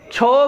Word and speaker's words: क्षोभ: क्षोभ नहीं होगा, क्षोभ होगा। इसका उच्चारण जब हम शुद्ध करें क्षोभ, इस तरीके से।